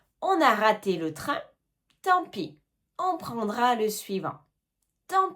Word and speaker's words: tant pis: Et maintenant, tant pis. Tant pis. Tant pis. On ne prononce pas le T et on ne prononce pas le S.